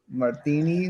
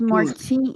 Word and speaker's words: Martine: Martine. Martini versus. It's Martine. It's Martine.